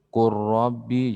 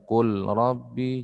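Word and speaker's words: قل رب: Qur Rabbi, jangan lagi dibaca Qul Rabbi, jangan.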